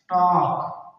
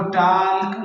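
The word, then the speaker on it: talk: के से पहले एल आया हुआ है। तो ये एल साइलेंट यानी खामोश है। इसको नहीं पढ़ेंगे। इसको टॉल नहीं पढ़ेंगे बल्कि इसको पढ़ेंगे टॉक।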